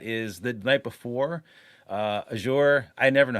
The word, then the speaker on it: Azure: some of that is the night before uh azour I never know how to pronounce that thing is azure Azure what however you want to say it